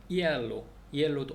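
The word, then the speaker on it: hielo: 자, 그리고 이제 발음되지 않는 아체, H죠. 그래서 에르마노는 형제인데 에르마노의 앞에 H가 있어요. 근데 묵음되는 거죠. 그다음에 이엘로도 얼음인데 앞에 H가 있습니다. HIEL로. 그래서 이엘로. 그렇게 한다.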